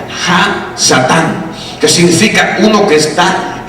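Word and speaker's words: הַשָּׂטָן: Oiga bien, Satanás viene de un nombre hebreo o de un verbo que se pronuncia Ha-Satán, que significa uno que está en oposición.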